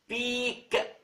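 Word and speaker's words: peak: كلمة قمة لها ثلاث معاني، المعنى الأول بيك، بص أنا بنطقها إزاي، بيك، البي تقيلة معناها قمة، تساوي معنى آخر ريفيرسال أوف بولاريتي.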